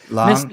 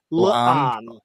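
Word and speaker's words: La'an: Am I pronouncing it right, Nick? I hope I am, because I get criticised every time I say her name. I think you're 99% there. Yeah, Lan, Miss Nudian Singh. exactly. I think there's an apostrophe in there somewhere, so it's like Lan.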